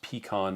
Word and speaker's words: pecan: It's pronounced pecan, not pick-on.